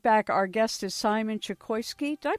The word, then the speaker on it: Chokoisky: we'll be right back our guest is Simon chokoski did I pronounce that right yes the five Dharma types